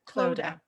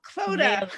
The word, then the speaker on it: Clodagh: think of Yoda, It rhymes with Yoda. Clodagh, Oda, Clodagh. Clodagh. There you go. Clodagh.